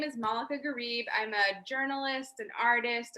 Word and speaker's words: Malaka Gharib: bit about yourself yeah so my name is moleka garib i'm a journalist an artist a writer a